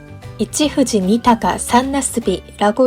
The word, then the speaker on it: 一富士二鷹三茄子: 이치후지 니타가 산나스비라고 읽는데요.